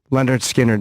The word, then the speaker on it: Lynyrd Skynyrd: Leonard Skynyrd the lead singer of Lynyrd Skynyrd Leonard Skynyrd is how you pronounce that Leonard no not Leonard Leonard there's